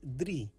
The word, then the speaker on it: drie: 3 is drie. This is pronounced like de and ri.